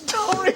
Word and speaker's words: Doris: que there they are how do you say it in Greek then you would say thoris probably the slight hint